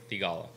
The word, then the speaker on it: Theegala: name like really crisply and right so the pronunciation is sahih tigalla and a lot of them are saying saheeth